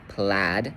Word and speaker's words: plaid: So with a word like plaid, you're gonna hear a short vowel sound. You're gonna hear plaid.